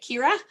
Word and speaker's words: Ciara: about my name uh it's c-i-a-r-a but i pronounce it kira um so it's always